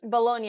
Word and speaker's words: Bologna: Is that how you pronounce it? Bologna, yes.